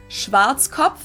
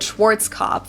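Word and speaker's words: Schwarzkopf: Schwartzkov. English native speakers usually pronounce it Schwarz cop or Schwartz cough or something along those lines.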